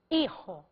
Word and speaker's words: hijo: quero falar padre e hijo o fonema de grega é isso o fonema de Hi é i porque o h é mudo fonéticamente em espanhol e essa regra